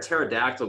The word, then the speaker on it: pterodactyl: can't you hear a pterodactyl go to the bathroom why can't i because the p is silent listen this has been